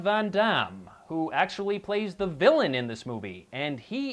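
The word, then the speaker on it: Vilain: his name is also villain it's spelled v i l a i n and is pronounced villain but yeah you add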